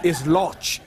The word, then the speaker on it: Loch: Oh, the way you say anus in German is loch. Loch. Loch. Loch. Kind of, the CH is in the throat. Loch.